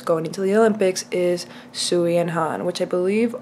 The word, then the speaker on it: Sui: into the olympics is sui and han which i believe also the correct way to say the name is sway and han correct me